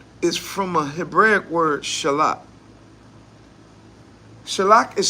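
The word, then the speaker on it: שלח: The word there for sin is a very, very common word in Hebrew, which is, you guys already know, it's what is shalak.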